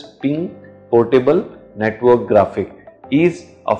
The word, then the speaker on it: PNG: PNG, pronounced as ping portable network graphic, is